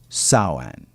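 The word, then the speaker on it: Samhain: marked by a festival called samine produced actually saan and it means the end of summer so Rhymes or sa rhymes with cow now you know I talked to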